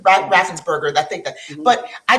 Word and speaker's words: Raffensperger: So the Secretary of State, and I think his name is pronounced Raffensperger, but I'm not Brad certain. Raffensperger. Raffensperger, I think that.